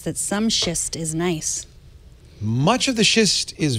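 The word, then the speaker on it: gneiss: that some schist is nice much of the schist is very nice is that how you pronounce that word s e i SS nice oh nice yeah it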